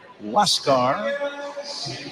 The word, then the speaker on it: Huascar: Huascar Brazoban, a right-hander, spells his first name Huascar, but it is pronounced Huascar, and he inherits a runner at second with one away, 3 runs in.